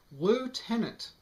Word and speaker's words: lieutenant: as for this word until you can show me where the f is in it i think we're justified in pronouncing it lieutenant even though i realized to the british that may sound like the tenet of a loo we americans don't use